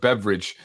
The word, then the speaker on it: Beveridge: A gentleman by the name of Andrew Beveridge, not spelled like beverage, but Beveridge.